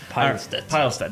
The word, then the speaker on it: Pilestedt: Pilestedt, yeah, I'm like a pile.